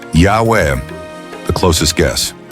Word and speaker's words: Yahweh: Today, scholars believe the original pronunciation of YHWH was Yahweh. Why? Because it fits with Hebrew grammar and names like Eliyahu, Elijah, Yeshayahu, Isaiah, and others that preserve the Yah sound.